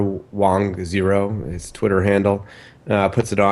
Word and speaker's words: Wang: Ray Wang, who's Wang, is it Wang? Wang. Yeah, thank you. Cool. We're having an argument, my producer and I, about the pronunciation of a name.